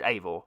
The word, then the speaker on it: Eivor: That's apparently how you say it. It's spelled Eivor, but I watched Ismail Ashraf, who is the creative director for Ubisoft on this game, and he said it was Eivor, so I'm going with Eivor.